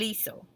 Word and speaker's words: hizo: The C changed to Z for pronunciation problems. So if we left it at C, it would say el hijo, and that's incorrect. And so they switch it to Z so we can keep that same pronunciation.